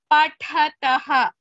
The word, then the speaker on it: पठतः: Yoginaf pathatah. Pathatah is Mahaprana.